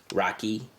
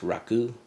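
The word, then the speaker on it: rakı: And depending on where you're from, I understand that from Albania they pronounce it Rocky. And in Turkey it's pronounced Raku.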